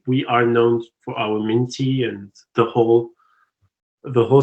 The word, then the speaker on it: mint: name of your ep is it pronounced m int or m-i-n-t i i would pronounce it mint just like like yeah like the plant but okay um you